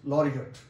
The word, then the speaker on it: laureate: Austere, laurel, and laureate, and laureate. And again you can see that ATE is underlined, so I have pronounced it at, not eight, laureate.